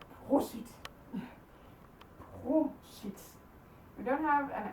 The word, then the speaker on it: prosit: So, this one, prosit. Prosit.